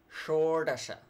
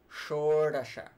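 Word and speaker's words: ṣoḍaśa: Dasha 16 Shore Dasha again that cerebral Shore Dasha Shore Dasha in Sanskrit it sounds actually called more Denis more dunya means comes from the world more than which means the head or the tip the upper tip of something so actually your tongue points upward so that so hence the name more Dania the head sounds so sure - ah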